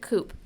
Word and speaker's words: coup: an ethical and strategic coupe the rallying cry of pride pronounced coo it's french i